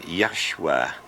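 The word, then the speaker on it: Yeshua: And the top letter is a a Y or a J pronounced Yah. The next letter is an S. And the last one is a U or W and saying Yesua which is Joshua which is also Jesus.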